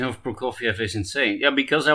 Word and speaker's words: Prokofiev: Your pronunciation of Prokofiev is insane. Yeah, because I was thinking about Eddie Wally. It's not my natural pronunciation of Prokofiev.